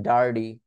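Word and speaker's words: dirty: এর মত শোনাতে পারেন হার্ডি যেমন মনে করেন ডার্ডি যখন আমরা ডার্টি বলি নোংরাকে তখন আমরা বলি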